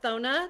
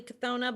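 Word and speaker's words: Cethona: yep so you've got thona that's how i say her name it's c-e-t-h-o-n-a it's possibly kathona but i just give her a silent c um vona is the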